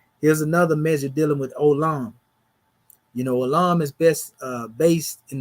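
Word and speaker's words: עולם: But anyway, it says the word olam, pronounced olam, is the word for world.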